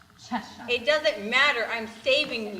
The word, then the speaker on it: Cheshire: Seashell. It's pronounced Cheshire.